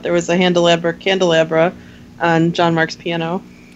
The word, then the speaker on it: Handelabra: hi I'm from handelabra games so that everyone goes oh it's like a calabra with an H so and go ahead